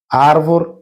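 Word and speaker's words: árvore: গেছে উচ্চারণটা হবে লেথ আরভর মানে হচ্ছে গাছ আর ভোর এখানে শেষে দেখেন ই এর উচ্চারণটা কিন্তু সাইলেন্ট একই সাথে সাথে নেভ তুষার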